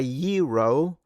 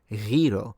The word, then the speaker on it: gyro: Order a gyro or whatever, or gyro instead. I think it's pronounced gyro. I think it's the r sound in Greek, if we're talking about Greek sounds, but whatever.